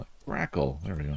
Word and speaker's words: grackle: Grackle. There we go. It's like crackle with a G.